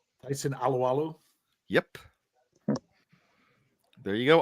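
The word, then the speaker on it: Alualu: Dave I'll let you say because I never pronounced the name right Tyson aloalo yep there you go aloalo yeah not drafted by the Steelers no drafted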